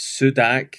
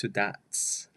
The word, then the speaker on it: Sudac: interpreter for Father Slatko Sudats. It's Sudak when you look at it, Sudac, but she has told me it's Sudats with the Croatian pronunciation.